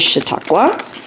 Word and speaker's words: Chautauqua: All right, and day 15, I checked my pronunciation. It is Chautauqua Wildlife Refuge.